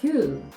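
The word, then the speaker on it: queue: піддається ніякій логіці ось це все читається Q як одна літера Q Тільки 5 літер Ну і в принципі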